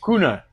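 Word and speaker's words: Kühne: It's a German Kuhn. Is that how you say it? A what? The Kuhn, the K-U... Oh, Kuna. Kuna. Okay.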